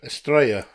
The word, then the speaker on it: Estrella: How do you say it properly? Estrella. Australia. Yeah. Like Mallorca. Double L is a Y in Spanish.